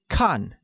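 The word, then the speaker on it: 看: to watch translates as khan which is pronounced with a falling tone thus i don't like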